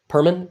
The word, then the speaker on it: Perman: Ray's last name, Perman? Is that how you pronounce it? Yes. Correct. Perman?